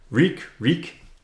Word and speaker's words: Reek: Reek. Rhymes with meek.